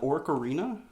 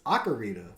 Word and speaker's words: Ocarina: Did you call it Orcarina? It's Ocarina.